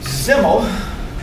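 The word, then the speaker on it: Simmel: and when it comes to groups size matters zimmel a german sociologist which is why it's pronounced as symbol as if it were a seed but it's spelled with an s gerard george gerlorg zimmel famous for analyzing the impact of size on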